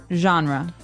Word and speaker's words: genre: We say genre. Genre. Or genre. So this kind of sounds French. Is it French? I think it comes from French. It's a G-E word, so genre. It's a soft sound.